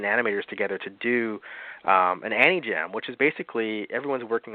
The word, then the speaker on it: Anijam: Am I pronouncing that right? Anijam animation? Yeah, Anijam.